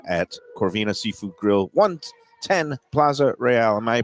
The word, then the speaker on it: Plaza Royale: Corvina Seafood Grill 110 Plaza Royale am I pronouncing it right it's not Plaza real it's real Plaza fancy South Plaza real south South Plaza real